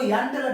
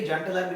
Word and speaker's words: Jahn-Teller: इसका प्रोनाउंसिएशन ऐसा ही है, इसका स्पेलिंग JH है, लेकिन इसको यंग टेलर, कोई कोई जॉन टेलर भी बोलता है, तो इसको यंग टेलर या फिर जॉन टेलर डिस्टॉर्शन बोल सकते हो।